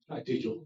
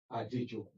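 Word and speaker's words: Adejokun: My last name is spelled Adejoku. Adejoko. J-O-K. Ade, as in John, O-K-U-N. Pronounced as Roman alphabets. Adejoko.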